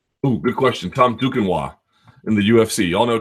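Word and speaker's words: Duquesnoy: guys do if you guys don't know Tom dukino and for my American friends who couldn't possibly spell that without assistance du q u s n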